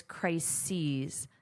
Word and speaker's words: crises: So the pronunciation is crises, sees, just like she sees.